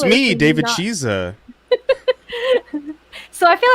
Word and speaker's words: Chisa: have not hello good evening it's me david chiza so i feel like every time that we